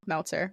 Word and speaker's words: Meltzer: yeah totally hi I'm Meltzer rhymes with Seltzer this is why everyone